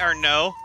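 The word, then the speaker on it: Arnaud: so now we meet our no uh a a-r-n-a-u-d it's pronounced our no the d is silent um he basically got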